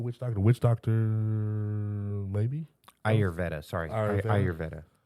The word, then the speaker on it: Ayurveda: Aruvia, Arveda. I don't know. But it's Ayurveda. Yeah, Ayurveda. Ayurveda.